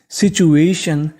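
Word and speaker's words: situation: tough का मतलब कठिन एस आई टी यू सीचू ए टी आई यू एन एशन क्योंकि टी आई यू एन को हमें पढ़ना है शन तो पूरी मीनिंग बन गई सिचुएशन सिचुएशन सिचुएशन का मतलब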